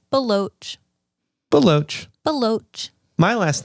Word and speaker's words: Baloch: had a teacher in middle school who said blaylock and i was like where are you getting the other l like that's real you really didn't even try there um but yeah but it's baloch baloch my last name is pronounced how not